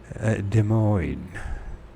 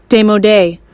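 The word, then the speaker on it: démodé: a belief in hell has become demoid. Is that how you pronounce that word? Let's see how it's pronounced. They might not even recognize it. Demodé. Demodé. I knew I didn't say it right.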